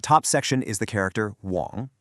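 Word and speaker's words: 网: That top section is the character Wong, pronounced Wong.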